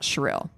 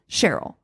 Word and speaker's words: Cheryl: about shirelle shirelle cheryl can't tell you for sure how to say her name because i've heard all three said wow it's spelled it's spelled s or c h e r y l so i would think it would be cheryl cheryl i heard cheril